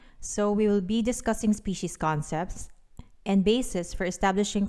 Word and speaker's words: species: And that is that the word species, whether singular or plural, is pronounced as species. So tandaan at ating ipatanda sa mga di nakakaalam na kahit ilang species pa yan, may S pa rin sa dulo.